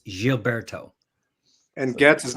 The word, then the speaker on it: Gilberto: So in Portuguese, the G is soft, so it's Gilberto.